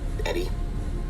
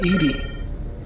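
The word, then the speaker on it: ED-E: Eddie, whenever you're ready. It's pronounced ED.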